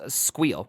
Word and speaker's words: SQL: Because if you say it SQL, it's actually an initialism. So next time you're arguing with someone about how to pronounce Squeal, you can drop this knowledge bomb. Yeah, it's pronounced Squeal. Squeal was designed in 1973 and made available in 1979.